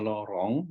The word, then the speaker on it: Laurent: Deret bacanya tulisan Laurent, bacanya Lorong. Ini bahasa Perancis.